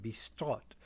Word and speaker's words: bistrot: So, in the last 2 decades of the 19th century, you begin to see a word, bistrot, spelled usually with a T, bistrot in English pronunciation.